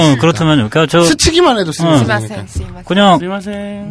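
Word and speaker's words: すみません: 근데 어쨌든 스이마생도 많이 씁니다. 그러니까 굳이 발음을 스미마생으로 할 필요도 없고 도쿄 사투리라면 스이마생. 네, 그러니까 그냥 스이마생, 스이마생, 스이마생으로 발음해도 충분히 알아들어요.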